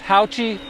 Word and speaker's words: HAOQI: and by the way it is pronounced howchi I verified this with them so let's check it